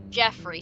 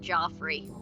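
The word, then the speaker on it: Geoffrey: buncha I wonder before Joffrey well Jeffrey sorry when I see it spell like that I want to pronounce it Joffrey I'd like to report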